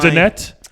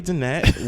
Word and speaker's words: Donette: Haley and Haley I- Donette. Haley Donette. We It's met. spelled like donut, like the donuts.